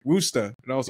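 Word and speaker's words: Worcester: remember the first time I was just like Worchester they're like woa and I was like what oh that's I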